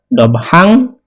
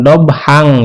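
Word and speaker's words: ضبحا: Nah, di sini kan ada fathatain ya, dobhang. Nah, karena diwakofkan ya, karena ada tanda wakofnya di sini ya, kita wakofkan membacanya, maka dibacanya dobha. Jadi jangan dobhang ya, jadi dibacanya dobha.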